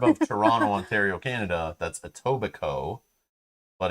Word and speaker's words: Etobicoke: about etobicoke right and they kept calling it a tobacco oh yeah it was so weird yeah that's not how you say it suburb of toronto ontario canada that's etobicoke but it's literally spelled